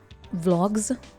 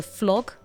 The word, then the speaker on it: vlog: Oh my god, that's reminding me of most people pronounce a vlog, you know, like a video log or blog. They pronounce it as a flog, flog, like with an F.